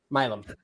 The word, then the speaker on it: Milam: Milam. Okay. Yeah. Just making sure. My sister-in-law, East Texas, that's like her great-great-grandmother something. I don't know. It doesn't. But anyway, it's Milam. Oh, shout out to Milam County.